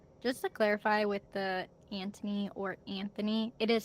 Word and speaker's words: Anthony: audio book they say Anthony and in the show they say Anthony. So, I think the H is supposed to be silent.